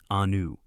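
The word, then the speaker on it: Iunu: In Egypt, the most sacred religious center was Heliopolis, known in ancient Egyptian as Ayunu, pronounced Anu.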